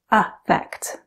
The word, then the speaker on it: affect: is print is pronounced affect like it has an a sound at the beginning however effect is pronounced